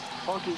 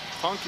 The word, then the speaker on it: Hunky: You know, you just, Hunky, it rhymes with Chunky.